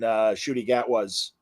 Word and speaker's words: Ncuti Gatwa: And I did read an article saying that she's going to show up in Ncuti Gatwa's.